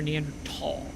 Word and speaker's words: Neanderthal: You say Neanderthal or Neander tall? I've heard it both ways and I suppose the correct way to say it is tall, but I say thaw.